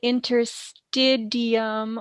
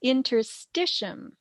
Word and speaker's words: interstitium: Some people mispronounce it interstidium or stitium, but it's interstitium.